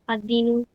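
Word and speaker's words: الدين: अद-दीनु, again we आर skipping L, ad-dinu, the religion, ad-darsu, the lesson, okay.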